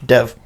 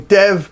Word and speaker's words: Dev: So The Green Knight was directed by David Lowery and starring Dave Patel. Dev. And, yeah, I did that again. Dave. Damn it. So So insensitive. The Green Knight, directed by David Lowery, starring Dev Patel.